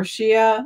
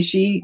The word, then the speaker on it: Shia: area do you think shiites uh or shia or she however you want to pronounce it there's different ways i say she do you think she